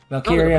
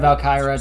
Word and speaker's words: Valkyria: Valkyria, Oh, Valkyra, depends on how you want to pronounce it.